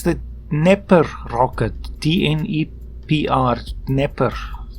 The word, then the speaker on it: Dnepr: Of course, it's the Dnepr rocket, D-N-E-P-R, Dnepr. It's obviously not being pronounced correctly, Dnepr, but anyway.